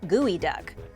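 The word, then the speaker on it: geoduck: has to be good it's spelled like geo duck but it's pronounced gooey duck when you first lay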